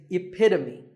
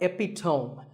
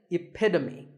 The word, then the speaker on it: epitome: example of something and the perfect pronunciation of that is epitome it's not epitome once again epitome of course once you